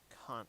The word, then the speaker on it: Kant: Immanuel Kant, I believe, is the pronunciation because it's Prussian.